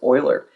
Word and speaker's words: Euler: to do okay so Euler notice it it's not said the same way that it's spelled it looks like Euler but I believe he was Swiss and so it's just pronounced a little bit different he also helped Pioneer